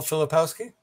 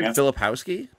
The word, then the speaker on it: Filipowski: stupid kind talk okay then same question Kyle filipowski I mean filipowski is very ltic very very